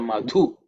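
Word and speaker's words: मधु: in terms of pronunciation the second letter in the Mantra madhu the two is from the fourth letter in the third so it has to be aspirated it's a mahaprana consonant okay um just pay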